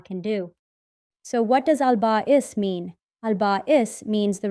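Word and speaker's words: Al-Ba'ith: Let's learn together about a very special name called Albais. Say it like albbais. The name we're learning today is albbais. Can you say it with me?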